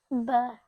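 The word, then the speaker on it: ب: Ba is pronounced like the wet part of the lips. MashaAllah. Is it one lip or? 4 lips. You got 4 lips? No, one lip. You got 1 lip? Yeah, both lips. MashaAllah. Both lips, okay? Not 1 lip, okay? MashaAllah. Pronounced from wet part of the lips, yeah? So both lips, okay? Ba. Right? So make sure you use your lips. If you don't use your lips properly, then you won't be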